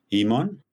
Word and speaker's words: Human: It's actually pronounced Human. It's a South African last name, but you know, in Canada, you're a human.